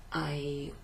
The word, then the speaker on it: hai: So we don't pronounce the H at the beginning of the word, we just pronounce it O.